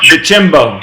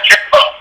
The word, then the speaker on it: DeChambeau: Okay, Kuchar, DeChambeau. Yeah, Chimbo. DeChambeau. DeChambeau. DeChambeau. DeChambeau. Oh, like champagne.